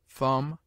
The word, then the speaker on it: thumb: obtains in other languages it is mute in debt debter subtle doubt lamb limb Dum thumb climb comb womb it is used before